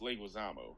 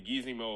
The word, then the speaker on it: Leguizamo: I was told, one of Nick's favorite actors, John Leguizamo. The pest. Yeah, we mispronounced Leguizamo, but he just started doing it because everybody it's supposed to be Leguizamo or something like that. I forget how he said it.